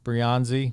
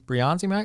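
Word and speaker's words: Breyanzi: that you you worked with the team that's brianzi briyanzi I'm pronouncing that correctly brionzi perfect yeah all right good um from you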